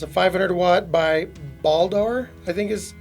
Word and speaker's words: Baldr: It's a 500 watt by Baldr, I think is Baldr. It's B-A-L-D-R is how you pronounce it.